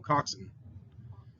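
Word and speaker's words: coxswain: s-w-a-i-n sounds like looks reads like swain doesn't it we're gonna call him though we'll call him coxson coxson that's a boat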